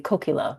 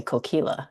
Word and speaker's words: Kokila: And I notice people mispronounce the imprint Kokila because it's the same Yeah. thing. It's supposed to be Kokila, but most people say Kokila anyway.